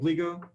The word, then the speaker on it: Gligo: have asked before but am i mispronouncing your name is it gligo no you got it right okay good that's rare